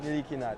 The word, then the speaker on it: Ntilikina: Actually, it's Frank Ntilikina. Thank you. Yeah. Excuse me. Say it one more time, Frankie. Frankie Smokes. Actually, it's Frank Ntilikina. Thank you, guys. Frank Ntilikina. Ntilikina. So no, that's an L.